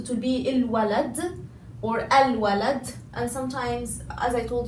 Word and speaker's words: الولد: I immediately say the lam and it's silent, but if I'm saying it as a word alone, it will be al-walad, okay? Al-waladu, okay?